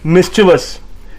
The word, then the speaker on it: mischievous: It's not mischievous or mischievous, it's mischievous, which means causing or showing a fondness for causing trouble in a playful way. So it's mischievous, and its pronunciation is MIS hyphen CHUH hyphen VUHS. Mischievous.